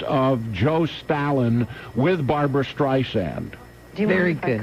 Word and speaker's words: Streisand: reagan is played by james brolin that's barbara streisand's barbra streisand's husband another nice man he is right over there on the far left side just slightly to the left of joe stalin with barbara streisand very good correct your pronunciation of my name